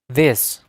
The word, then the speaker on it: this: This. Từ this âm TH để lưỡi giữa hai hàm răng rồi đọc chữ the.